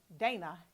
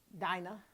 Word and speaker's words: Dinah: So I'm going to pronounce her Dina. I like to say Dana for some reason, but because I'm on the show, I'm going to say that. I'm going to say Dina because of this spelling.